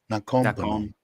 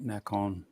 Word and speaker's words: Nakhon: Nakom. Yeah. Nakom. Did I say it right? Everybody's telling me. I thought it was an N on the end of that. Nakhon.